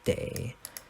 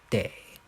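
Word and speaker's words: 得: this a verb and since it's a verb it's now pronounced as day so what day and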